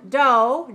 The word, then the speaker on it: dough: this word do d-o-u-g-h the GH is silent so we don't say dog we don't pronounce a good so there are some words in English we write the letters but we don't pronounce them those letters are silent so in the word do we only hear the D and O why do we have